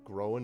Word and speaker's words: groen: It's like the sound in Loch, like Loch Ness. Yeah. And then oon.